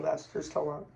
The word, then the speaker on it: Sylvester Stallone: That's how you pronounce his name. Sylvester Stallone.